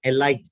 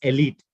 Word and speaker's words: elite: basically means first class the pronunciation is not a light this is a common mistake that we make it's not ally it's elite okay elite the elite of